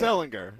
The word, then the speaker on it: Ellinger: fix our you're right say it how you say it it's Ellinger okay Ellen Ellen